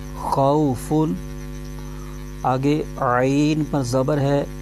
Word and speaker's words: خوف: زبر آ جائے تو واو لین ہوتا ہے، اس کو بغیر کھینچے پڑھتے ہیں۔ فا پر دو پیش ہے، تنوین ہے، تو اس کو تنوین کی آواز کے ساتھ پڑھیں گے۔ تو اس کے ہجے یوں کریں گے، خو واو زبر خو، فا دو پیش فن، خوفن۔ آگے عین پر زبر